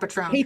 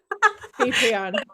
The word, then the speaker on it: Patreon: No, it's not Patron. Patreon.